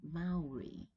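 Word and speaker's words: Māori: also for example so the pronunciation is Maori Maori and of course this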